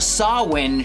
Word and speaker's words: Samhain: 3 which is titled sawin shun or if you're going to pronounce it wrong Sam Hayne Sonata